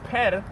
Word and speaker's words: per: And this per, pronounced per, also means house or abode.